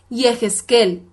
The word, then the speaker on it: Yehezkel: es el profeta ezequiel en hebreo es yehezkel y se escribe con las